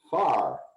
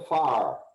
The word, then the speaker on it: fire: August grew up in Arkansas, so when he said the word F-I-R-E, he pronounced it far.